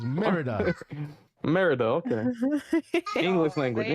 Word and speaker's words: Merida: That's how it's spelled. It's Merida.